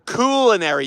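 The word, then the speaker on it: culinary: so it's cool like cool beans cool pool inary Union I will learn how to say it properly thank you for that lesson in pronunciation it is the coolinary union I already learned how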